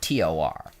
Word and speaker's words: Thor: Like if it's spelled Thor, it's supposed to be pronounced Tor, and if it's spelled Tor, it's supposed to be pronounced Thor.